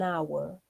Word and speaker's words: hour: Por lo tanto, como suena con vocal, vamos a poner an hour. Es silenciosa la H.